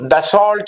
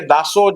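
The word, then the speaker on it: Dassault: जो डसोल्ट या दासो भी जैसे भी आप प्रोनाउंस करना चाहे तो उसके मैन्युफैक्चरर हैं।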